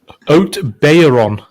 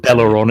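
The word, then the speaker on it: Haut-Beyleron: my streams i think it's oat bayer on bayer on so you don't pronounce the l yeah so it's not bella bellaron it's bayeron yeah but if somebody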